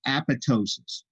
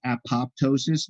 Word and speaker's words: apoptosis: dead tissue and there's apoptosis apoptosis a lot of people mispronounce this apoptosis but the second p is actually silence apoptosis and uh apoptosis